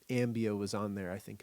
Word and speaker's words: Ambio: registered trademark and then Ambio rhymes with cambio, change in Spanish and we have a lot of change that happens.